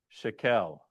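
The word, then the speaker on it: שקל: There's 3 different dot formations for the same letter that all sound the same. Seri and Serios, they sound exactly the same. Mhm. Segol. But segol is met. It's eh. They and eh, right? So this would be shekel or shekel, right?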